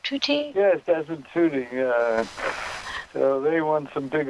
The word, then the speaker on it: Tutu: Yes, Desmond Tutu.